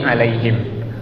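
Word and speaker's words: عليهم: Nah, mim sukun, alaihim juga sama, rapetin. Alaihim. Jangan dilepas. Kalau dilepas alaihim, me-nya kita nggak sadar tapi itu keluar. Tapi rapetin dulu sempurna, baru buka.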